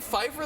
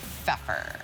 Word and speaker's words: Pfeffer: I've been saying Pfeiffer this whole time and it's Pfeffer? It sure is. 17 years we've known Ellen. And this is the night that Jay Onright realizes her last name is pronounced Pfeffer.